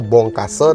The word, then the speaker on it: Bongkasa: kita sudah memasuki Desa Bongkase teman-teman, Desa Wisata Bongkase. Nah, Bongkasa begitu tulisannya. Kalau orang Bali bilang Bongkasa, jadi di A-nya itu diganti dibacanya jadi E seperti itu teman-teman semuanya.